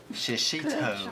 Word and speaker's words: shishito: Shishito.